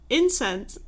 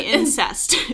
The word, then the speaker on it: incense: And she said, oh, I found out how to make my own incense. Hold on. I always say it wrong. Incense. Yeah. I want to say incest. Yeah, it's not incest.